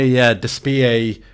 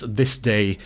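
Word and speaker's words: DSPIAE: I compared it to my Despie, or well, it's not Despie, it's This Day, is how it's officially pronounced.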